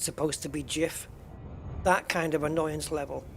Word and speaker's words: GIF: along the lines of you know the people pronouncing gif as gif when it's supposed to be jif that kind of annoyance level is when people